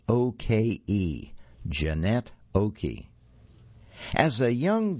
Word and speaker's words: Oke: Next, let's take a look at a book called Unyielding Hope by Janet, or I think it's probably pronounced Jeanette Oke, and that's spelled O-K-E.